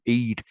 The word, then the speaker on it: Eid: So anyway, I understand it was a balloon-shaped device for an Eid or an Eid festival, EID.